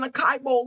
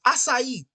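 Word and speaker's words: açaí: just spelling wrong mispronunciation it's not an aai bow either it's assai on God can we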